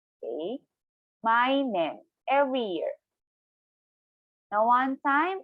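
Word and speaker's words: 毎年: One time again, slowly, per syllable. Maigetsu. Every month. And then for every year, mainen. Again, mainen.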